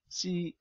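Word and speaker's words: χ: Ya, dibacanya C ya, dari huruf Yunani. Ya, C.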